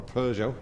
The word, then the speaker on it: Peugeot: So, he's still in the Pujo or Peugeot if you want to pronounce it correctly.